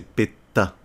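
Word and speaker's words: PETA: pour l'association péta ptr où il faut bien le prononcer parce que là je parle de miss france donc c'est péta rien après la c'était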